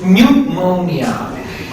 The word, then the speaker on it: pneumonia: In English, you pronounce this pneumonia.